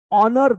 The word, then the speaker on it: honor: months yes beta x honor the bill h is silent a beta x honor